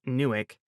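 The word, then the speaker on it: NUWC: Now newick. Pat pronounced the acronym for the Naval Undersea Warfare Center as Nuick says there's like a 7% chance of detection in fullcoms.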